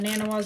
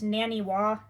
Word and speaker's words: Naniwa: I just call them Nanawas, but I think it's Naniwa.